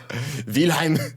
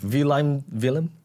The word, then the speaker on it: Wilem: Wilhelm. Wilhelm. Yeah. Wilhelm. It's Wilhelm. How do you say? How would you say it? You gotta say Willem.